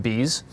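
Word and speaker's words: B'z: It's a B apostrophe zed, but it's pronounced bees.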